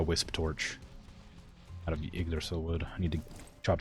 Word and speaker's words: Yggdrasil: I know it's pronounced like Ig. Yggdrasil.